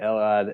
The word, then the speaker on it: Elad: I'm here with Elad, right? Am I pronouncing that right? That's correct. That's right, Elad.